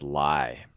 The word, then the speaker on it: Lye: The bad guy in the Oracle series, his name is Lie. It's kind of like a lie you might tell, right? But it's spelled differently. It's spelled Lye instead of Lie.